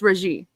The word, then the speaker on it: Regé: Reggie, I think it's Reggie. Because the E has the double sound, so it'd be Reggie, right?